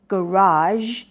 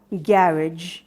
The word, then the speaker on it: garage: คำ ว่า garage garage ถ้า ออก เสียง แบบ อเมริกัน เรา ก็ จะ เห็น ว่า มัน จะ stressed ที่ พยางค์ หลัง garage แต่ ว่า คำ เดียว